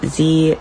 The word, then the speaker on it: ze: asking about my pronouns they are pronounced z zem zaire